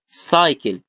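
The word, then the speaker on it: cycle: جه بعدها واي اقول ايه سايكل.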